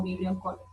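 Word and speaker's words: Vibrio cholerae: Se escribe de esta forma, pero se pronuncia como Vibrión cólera.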